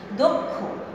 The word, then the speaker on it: দক্ষ: আমি ওকার দিয়ে লিখেছি দক্ষ, দক্ষ, আমি দক্ষ বলছি না, আমি বলছি দক্ষ ওকার দিয়ে।